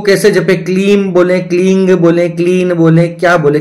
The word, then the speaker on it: क्लीं: उच्चारण कैसे करना है जब आप क्लीम जपते हैं क्लीम यह भी चलेगा लेकिन सबसे स्पष्ट जो है वह है क्लींग क्लींग ग जब बोला